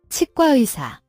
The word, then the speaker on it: 치과의사: Dentist in Korean is 치과의사, 치과의사. again. Dentist in Korean is 치과의사. How do you write chigwa isa in Hangul? This is composed of 4 syllables.